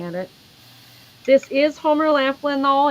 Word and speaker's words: Laughlin: the crazing it's funny they have it spelled like laugh but it's Laughlin yeah I know I always say it Laughlin but yeah well it it